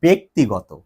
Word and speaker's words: ব্যক্তিগত: এখন কেন এটা হলো আমি বলবো একটু পরে, তার আগে এই যে তোমরা বলো যে ও আমার ব্যক্তিগত লোক, ব্যক্তিগত না, এটা ব্যক্তিগত, ঠিক আছে, তাহলে এটা হবে হচ্ছে ব্যক্তি।